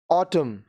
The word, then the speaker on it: autumn: अब ये जो वर्ड्स हैं इसमें N साइलेंट होते हैं. Autumn, पतझड़.